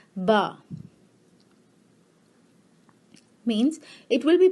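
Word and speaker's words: ب: And because Be is with A sound, it will be pronounced as Ba.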